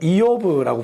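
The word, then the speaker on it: אִיּוֹב: 그리고 히브리어에서는 이오브라고 부릅니다.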